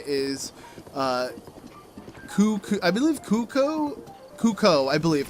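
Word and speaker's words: Cucco: in the Hyrule Warriors Direct that the correct pronunciation is Kuko, I believe Kuko, I believe. Kuko is the way. I'll go ahead and have it play on the screen right now. Let's start with the Kuko.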